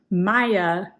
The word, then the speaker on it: Maja: So Maja is the correct way to say this.